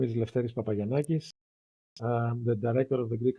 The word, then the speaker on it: Lefteris Papagiannakis: especially your name which I will struggle to pronounce yes thanks for having me first of all my name is leis papay yakis the director of the Greek Council for refugees